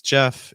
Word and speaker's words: Jeff: My name is Jeff. It rhymes with breath, which is one of the four keys to a natural sound in American English pronunciation.